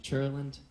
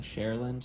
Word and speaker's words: Cherland: I pronounce it Cherland, but when I say that, people are like, cool, Shurlund. And I'm like, no, you weirdo. Right? So that's why I started saying Shareland, share like the singer, land like the